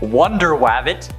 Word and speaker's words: Wonder Wabbit: The Crash was first introduced in Captain Carrot and His Amazing Zoo Crew number 14, which also features superheroes like Wonder Wabbit, that's actually how it's said, Aquaduck, Batmouse, and